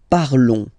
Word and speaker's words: parlons: Nous parlons, okay? Remember, final s is not pronounced, okay? And then this on together, they will give you the sound on, okay? Nous parlons, nous parlons.